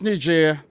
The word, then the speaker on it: Niger: For this game, I'm going for Algeria to smash Niger 5-0. And it's pronounced Niger, guys.